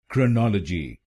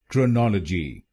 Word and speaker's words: chronology: its correct pronunciation is chronology chronology this word has four syllables say the first syllable